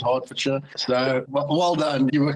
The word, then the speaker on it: Hertfordshire: beginning with it because it looks like it says hurt for sure but I don't know for some reason they pronounce it Hertfordshire so well done you